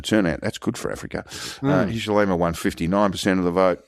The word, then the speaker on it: Hichilema: Hichilema, yeah.